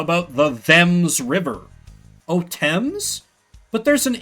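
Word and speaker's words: Thames: Like they say, "Oh, well, you know, you pronounce the H because there's a bloody H in it." Well, what about the them's river that runs through your beloved London? How about the them's river?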